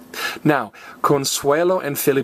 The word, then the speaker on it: Consuelo: and I started laughter I thought oh she said her own name wrong nope Consuelo even though it's a girl's name it ends in O be careful with that